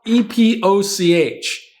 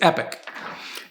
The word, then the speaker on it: epoch: how to pronounce it because it's spelled e-p-o-c-h like it could be looked at epoch or poach i don't know but the way you pronounce it out here is epic and i wouldn't have